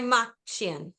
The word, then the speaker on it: Kaymakcian: Hi, Machinian. So, good Jod. That's like the best pronunciation of my last name I've ever heard.